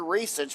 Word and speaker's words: Racich: that your name, Racich, that you're Croatian, and the first C in a Croatian name is pronounced an S. So Yes. it's Dr. Racich, but he's Croatian, so it's spelled DRRACICH.ca.